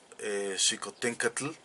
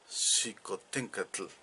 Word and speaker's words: Xicoténcatl: menos vemos claramente que el sonido de la l era muy clara en la pronunciación del náhuatl clásico porque hernán cortez lo